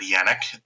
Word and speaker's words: Janek: Neither of you have ever met Vice Admiral Howard Yannick. That's spelled Janek.